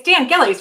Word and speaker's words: Dan Gillies: Dan, it's Dan Gillies, right?